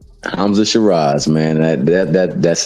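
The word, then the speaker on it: Sheeraz: Hamza Shar, how you say his name? Hamza Shiraz.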